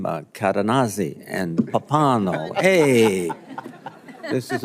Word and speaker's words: Cadenazzi: The um the way I uh understood how to pronounce the witness's name was he he said it rhymes with snazzy.